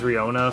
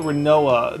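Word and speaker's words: Rinoa: So her name was Riona from like FF8.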